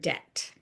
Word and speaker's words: debt: Like think about the unnecessary B in the word debt. In the Middle Ages, when